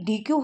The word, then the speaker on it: Deque: वैसे प्रोनाउंस इसको डेक किया जाता है।